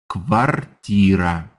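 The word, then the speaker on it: квартира: guess if you're British to me the word sounds like the word quarter in English as in someone will show you to your quarters right your quarters in English is your living space from quarters we get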